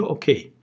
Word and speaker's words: okay: Hep ok diye kullanıyorlar ama okunuşu okey. Biz Türkçe'de bunu E ile yazarız ya. Ok, OK, E'ye. Onlar bunu A ile yazarlar. Okey diye. Okay.